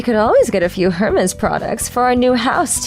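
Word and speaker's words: Hermès: I knew that Hermes was spelled Hermes, so I could understand the mistake, but I restrained myself from lecturing them that you don't pronounce the H in the company's name.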